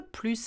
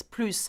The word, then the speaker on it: plus: instant where it means plus and we don't pronounce the S I did a video